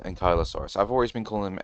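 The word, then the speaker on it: Ankylosaurus: So, it is pronounced Ankyosaurus. I've always been calling them Anks. I mean, I guess you can call them an Anki, but uh they are pronounced Ankyosaurus.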